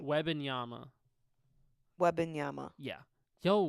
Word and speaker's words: Wembanyama: He's going to come out like Wembanyama. I don't even know how to say his name. Yes! That brother... How do you say his name? Wembanyama.